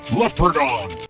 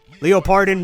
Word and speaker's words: Leopardon: the hell are you leopardon Leo pardon mispronouncing his own name why not it should be leopardon I mean seriously and